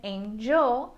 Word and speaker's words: angel: Can you hear the difference in the G sound? Angle has a hard G an angel has a soft G.